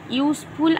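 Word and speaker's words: useful: কিন্তু এখানে ইউজফুল আমাদের একটা রুলস আছে যে ইউ এর উচ্চারণ যদি ইউ এর মতো হয়, সেক্ষেত্রে ভাওয়েল হওয়া সত্ত্বেও এর পূর্বে অ্যান না হয়ে এ বসে। তাহলে কি ইউজফুলের উচ্চারণ দেখো, ইউজফুলের উচ্চারণ কীরকম হচ্ছে? ইউ এর মতো হচ্ছে, তাহলে ইউ কি ভাওয়েল না? ভাওয়েল। তাহলে ইউ এর মতো উচ্চারণ হওয়া সত্ত্বেও এর পূর্বে অ্যান বসে না, কি বসে? এ বসে। তাহলে এখানে কি হবে? এ ইউজফুল metal.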